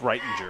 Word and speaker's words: Rettinger: rettinger number two and i hope i'm pronouncing that correctly it's writing writing thank you code there